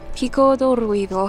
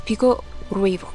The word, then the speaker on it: Pico Ruivo: There's still 3.9 kilometers in order to get to Pico do Ruivo. I think we pronounced that wrong at the beginning. It's Pico Ruivo.